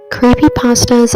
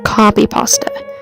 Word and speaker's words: copypasta: name creepypasta comes from copypasta which it's really supposed to be pronounced like copy paste uh it started out